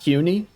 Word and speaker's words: CUNY: I believe is pronounced CUNY, like Q and then the word "ni."